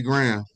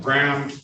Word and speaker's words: Graham: sir good morning what is your name you pronunciation of your name please oh it's Graham gr right all right good morning to you Mr um that's uh gram g r a h m g r a